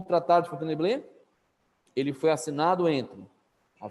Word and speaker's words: Fontainebleau: Como é que pronuncia? Fontainebleau.